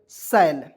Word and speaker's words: shall: तो यहाँ देखिए SH से क्या होता है दोस्तों, स, ए है तो उसको उच्चारण आई के रूप में, एल से ल लिखेंगे, एक एल को हमेशा साइलेंट रखते हैं, सैल हो जाएगा दोस्तों।